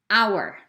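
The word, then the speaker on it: hour: another unusual letter is h if the h is silent we use an right remember that silent means we don't hear it our and our honor and honor honest person and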